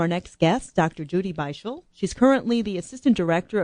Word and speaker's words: Beischel: And it's Beischel. Beischel.